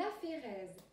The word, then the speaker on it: aphérèse: Dans ce cas, ça s'appelle une aphérèse. Aphérèse qui s'écrit A-P-H-E-R-E-S-E.